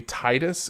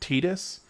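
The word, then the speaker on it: Tidus: any uh any explanation you you come up with that makes it make sense for his name to be Titus and not Tetus, I'm down with.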